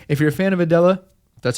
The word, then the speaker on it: Adela: If you're a fan of Adella, that's how you say it, be sure to support her.